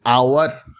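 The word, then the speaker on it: hour: বলছি আমি কীরকম, অ্যান আওয়ার, an honourable man, an honest man, অ্যান আওয়ারলি visit. আপনি যদি এটাকে ফোনেটিকে করেন আওয়ার, আওয়ার, কিন্তু স্পেলিংটা হলো এইচ ও ইউ R, honest, O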